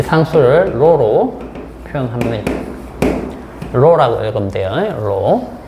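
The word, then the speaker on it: ρ: 그래서 이거 상수값을 넣어 주면 요렇게 되겠죠.이 이 상수를로 표현하면 로라고 읽으면 돼요.로 어 그리스자입니다.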